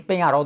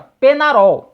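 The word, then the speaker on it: Peñarol: na o grande o penharol do Uruguai porém neste domingo né um dos inscritos aqui me chamou atenção falando com a pronúncia correta é como se escreve ou seja penarol né E aí eu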